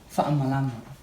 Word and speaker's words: fa'amalama: Fa'amalama. Okay, and what's the name? Fangamalama. That sounds like gun window. So she tried to. If you know the word, it's fanga malama. It's like fanga, it's a gun, and malama, that's wrong.